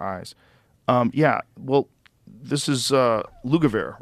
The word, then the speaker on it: Lugavere: Yeah, well, this is Lugavere, right?